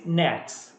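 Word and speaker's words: NAICS: are following North American industry classification system it's pronounced as nets okay so all the industries are actually they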